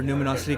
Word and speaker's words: Numinosity: All right, so Numinosity is like luminosity, right? But with an N. So Numinosity.